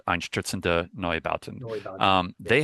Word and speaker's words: Einstürzende Neubauten: I know like Einstürzende Neubauten, Yes.